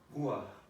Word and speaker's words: ruach: I started with it started with a word in Hebrew, ruach.